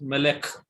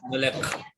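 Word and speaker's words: מלך: So only the consonant will be pronounced. Melek.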